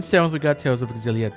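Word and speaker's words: Xillia: all pronounce this word I think it's pronounced exilia but I'm not sure but yes a nice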